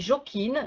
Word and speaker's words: Jokin: Vous nous excusez, ça s'écrit Joking, mais il faut prononcer un peu à l'anglaise. Un peu à l'anglaise, c'est-à-dire qu'avec un TH à la place du J.